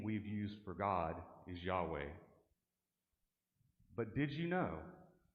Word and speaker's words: Yahweh: but did you know to say the word correctly to pronounce those consonants y h w h you do not close your mouth in fact to correctly pronounce the most sacred name of God does not allow you to use your tongue or to close your lips the pronunciation of the Sacred name was meant to emulate breath inhalation and exhalation for announcing the name